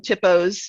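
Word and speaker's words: THPO: a typo does and we call them tippos because we wanted to rhyme with shippo uh a tippo is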